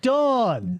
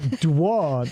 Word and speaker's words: Dawn: a dong or DW Don rhymes with con Dawn rhymes with Pawn thank you yes both